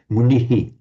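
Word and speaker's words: मुनिः: A modern Indian pronouncing Sanskrit would say naraha, a man, kriyayaha, that shadow vowel, naraha, and a munihi, not munihi, but munihi, little shadow vowel. Query whether that shadow vowel existed in the very earliest times in the pronunciation of the Veda, because it puts in an extra syllable.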